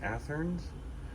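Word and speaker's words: Athearn: I believe it's pronounced Atherns.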